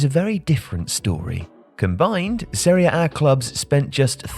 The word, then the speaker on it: Serie A: I haven't looked at Serie A.